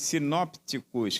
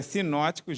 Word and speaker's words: sinóticos: dentre os evangelhos sinóticos, que geralmente vem também escrito sinópticos, com um P mudo, né? Aí algumas pessoas, mas é sinóticos mesmo que se pronuncia.